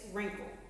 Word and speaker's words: wrinkle: some silent w words don't say the w wrap wrestle right wrote two more written and the last one pretend that w is not there it's wrinkle okay so read all